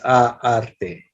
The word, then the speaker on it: arte: But were you able to hear that the future is arte, right? Arte. Roll your R's, as they say.